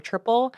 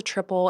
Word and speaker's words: Tripel: And, I think sometimes people get a little bit confused, like, what is a triple? It's kind of spelled a little weird. It's TRIPEL. We just pronounce it like triple, not triple.